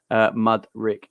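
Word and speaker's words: Mudryk: Mud Rick. That's how you pronounce it, Jamie.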